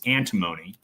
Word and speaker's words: antimony: They also have a very large what's it's I always mispronounce it. It's antimony.